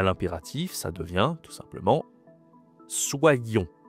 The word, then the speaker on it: soyons: À l'impératif, ça devient tout simplement soyons. Attention à la prononciation ici. Soyons. C'est le SWA, hein, le fameux soyons.